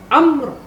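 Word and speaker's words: عمرو: Amr, ulaika, mi'ah, qalu. Amr itu bukan ain mim ro, tapi ain mim ro waw. Seperti contoh ini.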